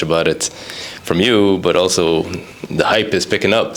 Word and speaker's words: Al: name so can you except except that I pronounce it Al that's how was supposed to be said okay